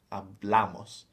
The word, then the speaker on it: hablamos: We've got nosotros hablamos. So it's on the second syllable there. Yeah, the accent is the second. Or the penultimate.